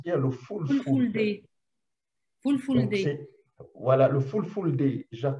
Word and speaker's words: fulfulde: Vous parlez l'italien, le sango, qui est la langue nationale de la République centrafricaine, et le fulfulde, j'espère que je prononce bien, le fulfulde.